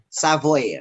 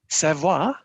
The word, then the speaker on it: Savoir: developed by ICEYE to Savoy? Savoy, is it the name of the software that we can download? No, it is Savoir. Savoir, right? sorry. Savoir, no, it is not, that's how you pronounce it.